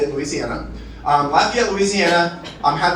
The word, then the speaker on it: Louisiana: Um uh uh Lafayette, Louisiana, which is how they say it, Louisiana.